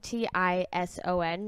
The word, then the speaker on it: Tison: We're actually going to talk about the Tison gang. We're going to be talking about multiple people. Whoa. It's Tison, Tison, not Ty.